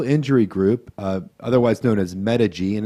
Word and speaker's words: Medig: Yeah, Medical Injury Group, otherwise known as Medig, and it's spelled M-E-D-I-G, if for those listeners out there.